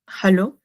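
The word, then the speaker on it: hallo: Y bueno, acá la H, como ya comentaba, se pronuncia como una J, y lo demás, hello, o sea, como una doble L es como una L, solo especificando una L, ¿no?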